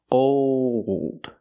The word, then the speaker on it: old: Old. When you make that dark L, the tongue gets tight and makes an extra sound.